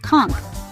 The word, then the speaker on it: conch: The conch, pronounced conch, is the heart of Bahamian cuisine and culture.